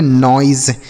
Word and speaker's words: noise: NOISE इसे हम पढ़ेंगे नॉइज। क्या पढ़ेंगे? नॉइज। समझ में आया? तो ओ के साथ अगर आई रहेगा तो ऑई का उच्चारण होगा, जैसे coin, soil, boil, join, coil, नॉइज।